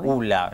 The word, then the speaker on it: Ulla: Ula es mi apellido. Ula, la pronunciación correcta, perfecto.